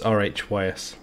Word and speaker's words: Rhys: Rhys, R-H-Y-S. It's spelled funny, but it's pronounced Rhys.